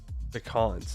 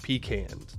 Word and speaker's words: pecans: in California you get stuff like peans pecans not peans specifically specifically Ally not peans cuz that's the incorrect way to say it PE these nuts